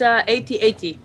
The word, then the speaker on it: AT-AT: at ATS or at-ats you've been having some discussion some debate about how to pronounce it in the office this week uh but if you didn't have those things it's 8080 is official okay see Justin has